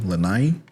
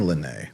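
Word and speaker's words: lanai: Her husband's bringing in some good money cuz they got a len or how was it pronounced again? Lai one more time.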